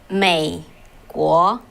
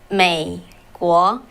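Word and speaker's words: 美国: So in Chinese, it's said, how to pronounce it, called 美国. Can you follow me? 美国.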